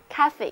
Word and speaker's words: cafe: 可是为什么不念成 cave 而念成 cafe 呢？因为这个词啊是来源于意大利语 caffe，所以呢尽管单词的拼写改变了，读音却仍然保留了下来。